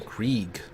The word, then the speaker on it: Krieg: Oh, that's how you pronounce his last name. Krieg.